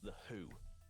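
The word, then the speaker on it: The Hu: It's called The Who, but it's spelled H-U rather than W-H-O.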